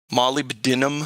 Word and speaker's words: molybdenum: molybdenum or molybdenum. How'd you say it, Josh? What is that? Molybdenum. Wow, that's the first time I've heard it properly.